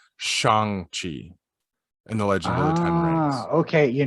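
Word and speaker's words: Shang-Chi: stumbled across it because that's exactly how i pronounce it too is shang chi apparently we've been pronouncing it wrong because we're white it's shang chi in the legend okay you know what nobody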